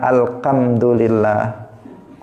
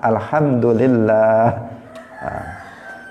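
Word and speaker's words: الحمد لله: Hai membacanya harus benar tidak boleh seseorang salah Alhamdulillah jangan alkhamdulillah jangan Alhamdulillah tetapi pakai ha Alhamdulillah kemudian nama Allah itu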